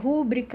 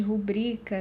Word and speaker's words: rubrica: Então, rúbrica ao invés de rubrica, né?